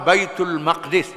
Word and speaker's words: Baitul Maqdis: dari berhadap ke arah baitulmaqdis bukan muqadis itu salah aja ha Baitul Maqdis ataupun Baitul muqaddas ataupun al-qudus itu ejaannya betul ha baitulmaqdis isi makan nama